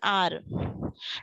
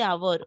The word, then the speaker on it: hour: So in the word an R, so when we see the timing, we see an R. We say an R. We don't say hour. Okay. So we say an R. So here H is silent.